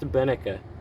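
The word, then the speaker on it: Beneke: i looked it up and this is actually pronounced benneka not so the more you know and of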